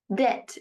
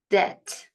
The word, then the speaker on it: debt: Debt. B is silent in this word. Pay attention. Debt. Debt.